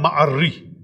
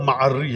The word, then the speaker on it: معری: ان کی مغفرت فرمائے، کہ ابو اعلی معری ہے. بہت سے لوگ معری پڑھتے ہیں، ہم بھی کسی زمانے معری پڑھتے تھے تو بڑا ایک مذاق